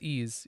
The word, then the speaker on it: Ys: oh yeah I love wise I love one Wise Wise Wise talise the talise of series excellent series um isn't isn't it isn't the actual pronounced it's ease yes John was trying to